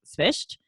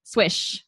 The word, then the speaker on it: Swyszcz: So if you want the actual way to pronounce it, it's pronounced Swyszcz. So it's like SV and then a soft ch at the end.